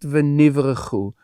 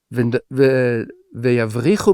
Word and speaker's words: v'yavrichu: And Rabbi Eliezer actually says you should pronounce it differently, not v'nivrechu, but v'yavrichu b'cha, and in you will be ingrafted.